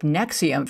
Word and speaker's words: NXIVM: know this particular group nexium first of all they are horrible spellers because nexium is spelled nx nxivm they brand themselves as